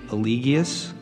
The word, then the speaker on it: Eligius: Eligius.